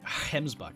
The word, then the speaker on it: gemsbok: like I've said a gemsbok I've been told to pronounce a gemsbok and also pronounce it like hens buck and I cannot do